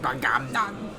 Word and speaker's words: Bagamnon: I believe his full name is pronounced Bagamnon.